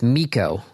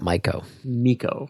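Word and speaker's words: Mico: It's Miko because it rhymes with Pico. Okay. So it's Microsoft's Miko, not Myco.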